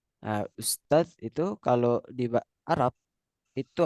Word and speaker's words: ustadz: Ustadz itu kalau di Malaysia itu bacanya ustaz. Nah, ustadz itu kalau di Arab itu ada sebutan untuk seorang profesor, ustadz.